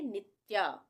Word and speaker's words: नित्या: नित्या इसको हम पढ़ेंगे नित्या अगर पूरा त होता तो हम क्या पढ़ते नित्या तो यहां पे आधा आ रहा है ये शब्द त तो यहां पे आधा उच्चारण होगा नित्या प्रियदर्शिनी प्रियदर्शिनी यहां